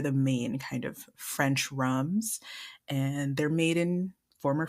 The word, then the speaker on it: rhum: So the French, it still sounds like rum, but it's spelled RHUM. Ugh, of course. Of course. And rum agricole uses the fresh